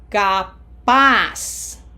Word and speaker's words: capaz: ciudad favor capaz Remember, the Z sounds like an S.